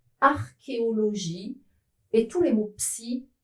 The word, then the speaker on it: archéologie: La majorité des mots qui sont des exceptions, qui s'écrivent C plus H mais ne se prononcent pas che, viennent du grec. Ils sont prononcés que.